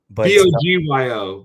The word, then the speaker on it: Bogyo: Bogyo. Yeah. It's got that D in there, but it's spelled with a G.